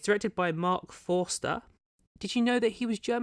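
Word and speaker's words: Marc Forster: I keep wanting to say Forrester, but it's not. It's Forster. I made sure to pronounce it properly.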